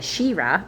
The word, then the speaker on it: Sheerah: His daughter was Shererah, Sheerah, almost like Shira. I'm going to say it like that way. Shira. That's how that reminds me. Like as if you're like really enthusiastic and you're holding on to the middle vowel.